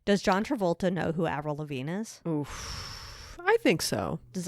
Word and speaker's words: Avril Lavigne: talented the wickedly talented avril lavigne it rhymes with the deltazine oh my god it